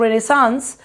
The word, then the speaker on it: Renaissance: इट is pronounced रेनेसांस और इसका मतलब होता है फ्रेंच वर्ड रीबर्थ।